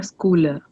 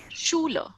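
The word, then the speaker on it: Schüler: air is in there schooler Schuler cooler yeah SCH togethers pronounces sure so air East in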